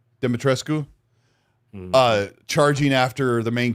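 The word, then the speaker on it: Dimitrescu: How do you say Demetris? Demetrescu. Demetrescu.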